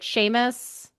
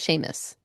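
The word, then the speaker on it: Seamus: It's like Sheamus. Oh, I think I think it's Sheamus. Sheamus.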